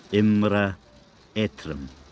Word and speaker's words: Iomairibh Eutrom: to sing a song for scotland it's called imra etram imra that's right if i say it properly